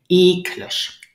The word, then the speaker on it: eklig: Now, do you hear the stress is on the first syllable, eklig, eklig.